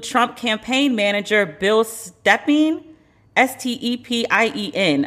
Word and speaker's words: Stepien: The list of infected also include Trump campaign manager Bill Stepien, S-T-E-P-I-E-N. I don't know how to pronounce it. It's not Stefan, Stepien.